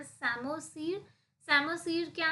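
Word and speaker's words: psammosere: सेमो सर ठीक है P silent so इट इ सेमो सर सेमो सर क्या है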